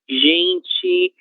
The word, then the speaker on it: gente: O que foi que a gente viu? A vogal E, sempre que ela estiver em posição final de palavra, e esta posição não for a sílaba tônica, a gente vai fazer